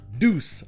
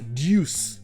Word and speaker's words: deuce: Donc ça se prononce bien deuce en anglais américain, mais en anglais britannique ça se prononce deuce, comme s'il y avait le son ye juste après le D.